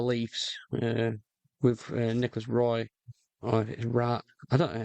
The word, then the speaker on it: Roy: I've heard different pronunciations, but I think in uh, I think in the in the good Canadian culture, I think it's Wah, as in Patrick Ra, Wah.